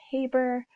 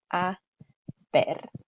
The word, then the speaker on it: a ver: bat here is that this is not pronounced haber or haber or anything that sounds like that. Remember, our H is always silent in Spanish, and then our vowels are always pronounced exactly the same way.